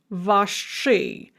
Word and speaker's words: ваши: But we are going to pronounce that as hard as ui, because sh is always hard. So we're going to say nashi vashi, but we write nash-i, vash-i.